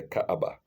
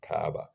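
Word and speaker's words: Kaaba: such as as the Caba in Mecca in English it's not it's not Arabic the Arab prod pronounced it as Kaa but apostrophe Kaa that's Arabic for you uh in the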